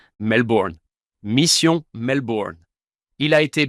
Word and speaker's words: Melbourne: Vous ne prononcez pas les R. Melbourne. Melbourne.